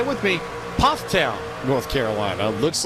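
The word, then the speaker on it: Pfafftown: On board with Converse University's Jake Cummings out of say with me, Pufftown, North Carolina. Looks like Buffap Town is pronounced Pufftown just outside of Winston Salem where eyes of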